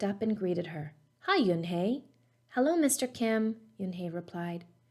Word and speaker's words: Unhei: she nodded slowly yes it's pronounced yun-hey and it means grace mr kim added joey